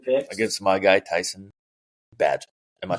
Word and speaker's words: Bagent: Against my guy, Tyson Badgett. Am I saying that correctly? Am I pronouncing that correctly? Bagent.